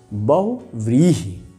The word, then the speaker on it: बहुव्रीहि: क्या पढ़ेंगे हम लोग, पहले तो इसी का उच्चारण बच्चों ठीक से करना चाहिए, बहुव्रीहि।